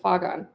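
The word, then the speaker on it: فغان: for the word howl, the word translated here as howl is pronounced faghan. Anjumani is pointing to the similarity between Afghan and faghan here.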